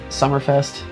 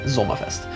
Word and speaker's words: Sommerfest: Instead of Biergarten and Summerfest, I pronounce it the German way, which is Biergarten and Sommerfest.